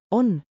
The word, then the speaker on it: on: on like own without the W.